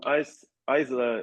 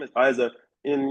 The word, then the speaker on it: Isa: So, now I'm recording and Isa, am I pronouncing your name correctly? Yeah, it's correct. Isa, yeah, thank you for joining me.